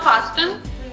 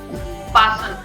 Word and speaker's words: fasten: Fasten or fasten? Fasten, okay? So everyone listen to me once again. The spelling is F-A-S-T-E-N, but the T is silent.